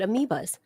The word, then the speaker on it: amoebae: amoebae, AE. Really? Mm-hmm. Yeah, it's a Latin thing. No kidding. I dropped out of Latin. Plural of something that ends with A, if it's Latin, is AE. That's pronounced bi? Amoebae? I always just said amoebas.